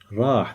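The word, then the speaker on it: راح: This is pronounced as rah. Rah, that means he went.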